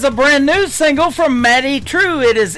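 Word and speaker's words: Madye Trew: That is a brand new single from Maddie True. It is M A D Y E on her first name and True is spelled T R E W.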